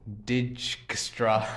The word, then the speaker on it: Dijkstra: A famous algorithm for this is pronunciation digestra algorithm conceived by Edka Digstra in 1956.